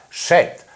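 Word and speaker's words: षट्: En sánscrito, seis se pronuncia shet y el sexto se llama shashti, lo que indica la antigüedad de esta palabra.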